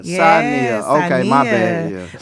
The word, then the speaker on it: Saaneah: Am I saying it wrong? Yeah, it's it's Saaneah. Yeah, Saaneah.